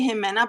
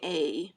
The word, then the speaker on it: Ximena: Ximena. I want to say Jimena, but I don't think it's The Jimena. X is like a she. Oh, Ximena? Yeah. Yeah. Ximena. Pixi is like she, right?